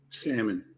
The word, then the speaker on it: salmon: do you say salmon salmon the L is silent the L is silent Lisa says yes the